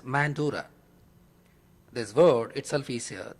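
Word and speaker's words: Mandara: It is pronounced in English as Mandura.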